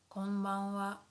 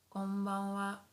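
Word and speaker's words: こんばんは: Good evening would be konbanwa, konbanwa, konbanwa. So although here this is hiragana ha, ha, but sometimes we pronounce it as wa, wa.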